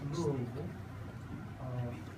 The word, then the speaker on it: Louisville: That's the way that's pronounced, Louisville, Kentucky.